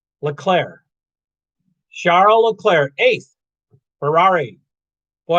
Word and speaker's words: Leclerc: to listen charles leclerc you don't say the see at the end it's not leclerc leclaire charlo leclair eighth ferrari